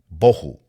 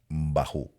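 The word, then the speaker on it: בֹהוּ: Vacía, H, hebreo, 922, bohu. Algunos les dicen bajú.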